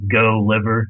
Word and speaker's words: Goliver: just by name but my name is spelled like go liver is the easiest way to remember it uh g l i v r so just one L there but yeah feel free